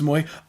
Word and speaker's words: Moy: Like yes, Moy.